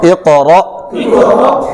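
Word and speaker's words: اقرأ: দেখানোর কারণ হচ্ছে যে অনেকে রক বলতেছে রক রক হবে না অর্থাৎ লাস্টে কাপ পড়তেছে এটা কাপ না হামজা হামজা হামজার উচ্চারণটা এইভাবে হবে ইকরা ইকরা হামজা ক বেশ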